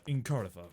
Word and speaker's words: Incarnatha: Anyway, focusing on Incarnatha, that's the correct pronunciation, right?